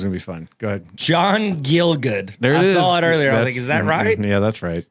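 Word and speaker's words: John Gielgud: guy's name is gonna be fun go ahead John gilgood I saw it earlier is that right yeah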